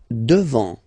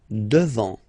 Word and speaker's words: devant: Devant, final T not pronounced. Devant.